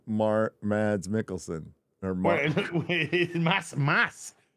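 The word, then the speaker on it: Mads Mikkelsen: it's elon's Ron that just looks like Mar mads Mickelson mass mass it's pronounced Mass Mickelson is there a D in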